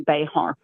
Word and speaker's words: Bexar: So, tell everyone about Bear County. It's it's spelled how? B X A R. So, if you were Spanish, it would be Bayhart.